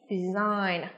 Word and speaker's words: design: Nhóm thứ hai của chúng ta sẽ gồm ba cái từ mà có âm g câm, đúng không? Nào, chúng ta quan sát xem nhé. Nào, A sẽ là orange, ok. B, again. C, sign. And D, design.